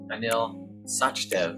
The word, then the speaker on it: Anil Sachdev: beginning of open space technology and Stadler and Anil sachdev am I pronouncing that correctly yes you are yes well